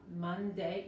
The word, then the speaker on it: Monday: Como esta O es como la A. Monday. Y cuidado con la D. es la D de inglés, se pronuncia más como la T de español, no, por nada se escucha, por nada se saca la lengua, ok, no es Monday, es Monday, Monday, ok, Monday.